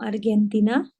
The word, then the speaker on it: Argentina: Are they from Argentina? Argentina. Karena G itu dibaca J.